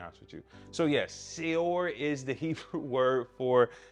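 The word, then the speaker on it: שְׂאוֹר: All right, so the debar of the day is the word seor. Say it with me, seor, right? That's how you pronounce the Hebrew word.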